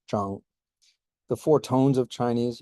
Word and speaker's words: Zhang: The Z is like a DS or a Zuo, and the ZH here is Zhang.